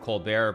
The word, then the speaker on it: Colbert: Obviously, I know that he pronounces it Colbert, but I mean, I think it's just like, just, I don't know, be confident.